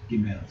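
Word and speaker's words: גימל: The third letter in Hebrew alphabet, how do you pronounce? Gimel.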